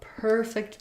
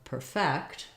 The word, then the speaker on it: perfect: is that we have first syllable stress when it's a noun or an adjective so a perfect day is just on per that's going to be long and thick is going to be short it sounds like like a cat's purring a perfect versus a verb is typically stressed on the second syllable perfect perfect we're going